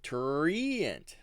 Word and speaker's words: Treant: well, the halfling druid in this article, she says Treant. How do you know? I can see it. It's because it's right there. She phonetically spells it. She does not. It says Treant, and then parentheses TRRE accent. 2 R's? That's odd. Yeah, that's why it's tree. Treant. It should be Treant.